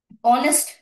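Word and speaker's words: honest: কিন্তু তার আগে বসল অনেস্ট এটা কি আমরা হনেস্ট বলি হনেস্ট ম্যান সৎ মানুষ তাই বলি হনেস্ট বলি না এইচটা কিন্তু আমাদের এখানেও সাইলেন্ট আমরা বলি অনেস্ট অ তাই না অনেস্ট ম্যান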